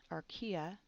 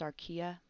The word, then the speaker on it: archaea: I want to just make a note that bacteria and archaea, notice how I pronounced archaea?